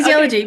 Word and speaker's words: kinesiology: word that I've been literally practicing all morning, kinesiology. It's like, am I pronouncing that right? Yes, Yes. Okay. kinesiology.